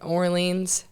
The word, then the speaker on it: Orleans: let me make sure i'm saying it right orleans yep firebirds right that's right um and can